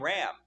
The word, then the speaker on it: Ram: on top of this the name Ram shows up or Rah if you want to pronounce it that that way shows up in job